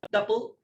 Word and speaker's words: tuple: Tuple. There is a pronunciation difference if you go to European data scientists, but overall let's call it tuple for the time being.